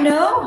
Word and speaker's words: know: Susie, I know her. You don't pronounce the K here, okay? No, I know her.